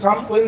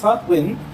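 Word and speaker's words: Samhain: তো সেরকমই বলছে ওই যে সামেন মানে ওই যে সাম উইন যে দিনটা আছে আসল উচ্চারণ কি বললাম? সাম উইন।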